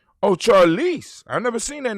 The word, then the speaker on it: Charlize: Spell it. Charlie Barnes. Charlie Barnes? Charlie. Like CHARLEACE. As in cat E. Oh, Charlize.